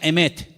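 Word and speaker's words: אמת: verdad y la palabra verdad en hebreo se pronuncia emet y vamos a ponerla ahí para que ustedes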